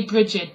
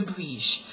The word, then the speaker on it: Brigid: A lot of people say Brigid, but which is fine. But being a Celt, I tend to call her Brige. That's how the Irish tend to pronounce it, at least as far as I know.